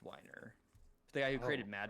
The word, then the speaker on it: Weiner: His is pronounced Weiner.